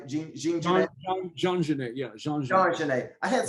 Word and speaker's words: Jean Genet: Jean Genet, yeah.